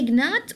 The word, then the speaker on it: gnat: Do you say gnat or gnat? Yes, excellent. It's gnat. So the G here is silent.